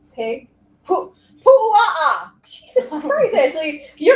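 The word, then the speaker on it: puaʻa: Pu'a'a. Jesus Christ, Ashley. You're Say gonna it with me. Pu'a'a.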